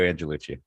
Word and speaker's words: Angelucci: show with me and I let pronounce his last name how are we doing good it's uh Lucci angellucci thanks for having me on the show Brett